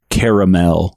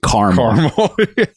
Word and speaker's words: caramel: It's pronounced caramel, not caramel.